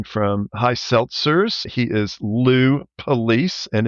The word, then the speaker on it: Police: high seltzers he is Lou police and it is pronounced as the law enforcement agency people are Lou how